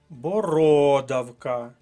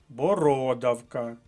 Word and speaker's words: бородавка: колонки третій склад міліметр бородавка другий склад друга колонка бородавка другий склад вискочила бородавка